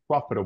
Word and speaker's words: profitable: you Daniel that's it the stress is in the beginning uh syllable okay so this is pronounced profitable profitable profit Prof sorry profitable repeat profitable everybody profitable profit profit Prof Prof